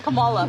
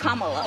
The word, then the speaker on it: Kamala: how to say her name earlier you said Kamala the way she pronounces her name is Kamala you don't work with her see that car